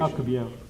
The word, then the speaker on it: Alcubierre: Alcubierre, what's the proper pronunciation? Alcubierre.